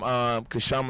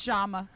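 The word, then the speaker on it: Kshama: We got some clips from Kashama Sawant. You know, I keep pronouncing the K. I know. No one ever corrected me. Yeah, no, we tried to tell you. It's just Shama.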